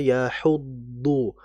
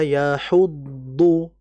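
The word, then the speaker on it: يَحُضُّ: Jadi dad itu punya sifat namanya e wadistatil yakni bimakna istitalah. Istithalah itu imtidad yaitu memanjangkan pengucapan dod ya. Apalagi dodnya dalam kondisi sukun ee dan juga tasydid. Wala yahuddu yahuddu itu dod ya.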